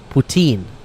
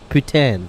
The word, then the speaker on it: poutine: cheese potato that what it's poutine not Putin okay just make sure you say it right because if you go